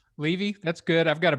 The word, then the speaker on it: Levy: hey dan hey i i like to use the word leavy in my pronunciation but however the fact that you're pronouncing my name at all is a good thing levy that's good i've got